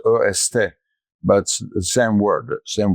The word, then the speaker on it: est: or a in French except the est is not pronounced in French. It's est but the same word same word.